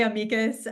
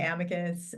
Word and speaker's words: amicus: to pronounce it but I say amikas um but some people say Amicus uh but yes we